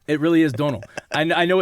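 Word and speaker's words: Domhnall: Donal it really is Donal I I know it's spelled all up but he even said in an interview he said it's pronounced like tonal but with the D and he's like that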